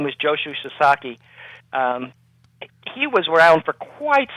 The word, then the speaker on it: Sasaki: And Joshu Sasaki, and I should make it clear, it's pronounced Sasaki, and Americans and Canadians sometimes have trouble with Japanese names, and it's very understandable. So his name was Joshu Sasaki.